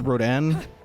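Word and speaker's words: Rodin: I looked into it the cor the correct pronunciation is Rodan uh based on the French sculptor August Rodan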